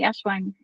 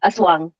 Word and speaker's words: Aswang: let's talk more about the ashang who I pronounced that correctly Aswang Aswang yeah um about you know